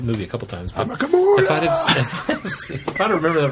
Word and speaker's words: Humma Kavula: That's how you pronounce that word. I'm a Kavula.